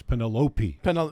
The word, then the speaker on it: Penelope: That's what they said in the movie with all of their And by the way, it's Penelope. Yeah, I do like that they're It's both Penelope.